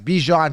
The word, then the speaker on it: Bijan: but awesome I like baijan I should start calling him how he likes to pronounce Bijon just because he's a nice guy really good guy but either way for now still by Jam okay so anyway what